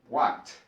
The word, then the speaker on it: walked: Walked, walked. Caminé, caminaron. Walked. Sonido T.